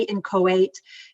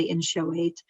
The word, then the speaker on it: inchoate: created what's called the in show eight offenses some people say in kuwait it's fine it's just different ways to pronounce it i say in show weight so the in show